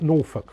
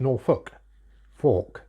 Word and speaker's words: Norfolk: that I spoke about Norfolk wrong it should be n-o-r-f-o-l-k as in folk nor folk but everybody around here pronounces it Norfolk Fork so that's why I